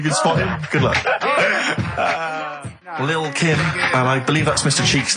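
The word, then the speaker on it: Lil' Kim: Now, Steve, I see there it's a track by Little Kim. How are you pronouncing it? I'm pronouncing that correctly. Lil Kim.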